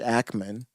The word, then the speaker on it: Ackman: Like it's like Hackman without the H, Ackman, demanding that Harvard University unveil the names of the students.